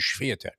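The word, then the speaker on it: Świątek: heard somebody pronounce it, Mary Jo Fernandez pronounced it as Swiatek. She put the Shvi in there, the Shva.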